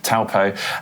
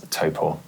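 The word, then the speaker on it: Taupō: we've gone down this route again we've said TPO um but we're too far in now so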